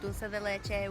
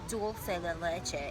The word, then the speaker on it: dulce de leche: that I wanted was strawberry, banana, and Nutella, but then I seen the dulce de leche with banana, and then that got me, so then we had that, and that was pretty good.